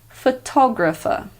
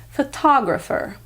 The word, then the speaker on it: photographer: understandable if you've made this mistake because the root word is photograph and the abbreviated form of that is photo the English language is cruel sometimes I'll say it again photographer photographer the American pronunciation is photographer photographer what number five